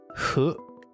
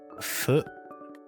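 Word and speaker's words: ふ: But so ha he hu, but it's pronounced like fu fu he and ho.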